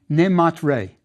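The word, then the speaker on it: Nimaatre: It was pronounced neatre and we can see all the elements of it. The water sign is the n. The goddess with the feather of truth on her head is ma and the sun is ray.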